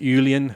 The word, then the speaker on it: Uilleann: I found Seamus Ennis, who's I don't even know how to pronounce it. Ulian, how do you say that? Uilleann Pipes. Uilleann Pipes.